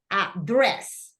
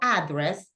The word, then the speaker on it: address: was saying Chelle remember it's address right the stress goes in the second syllable no address but address okay remember Andress that